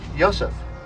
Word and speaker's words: Yosef: It's usually pronounced ha, but in Hellenic Hebrew it tends toward the O sound, ho. This is Yosef.